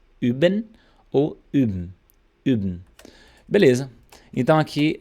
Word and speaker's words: üben: Só que você vai fazer o bico e falar I.